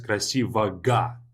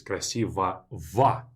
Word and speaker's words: красивого: So this O, G, O is not pronounced as красивого, but it's pronounced as красивого. So it only is changed from G to V in pronunciation at the end of adjectives. You see OGO, pronounce it as ovo, or EGO, pronounce it as Eva.